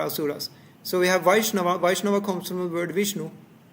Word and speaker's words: Vaishnava: Vaishnava comes from the word Vishnu. You could have said Vishnuava, yeah. But because of Sandhi inside the word, it becomes Vaishnava. It's more easy to pronounce.